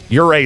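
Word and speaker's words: Ouray: Um, Uray is really cool. That's spelled uh O U R A Y if you want to check it out.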